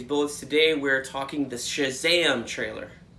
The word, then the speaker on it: Shazam: comic-con starring Zachary Levi I have to say it like Shazam because I got it Shh you gotta get that SH sound and it's got that exclamation point at the end words were never he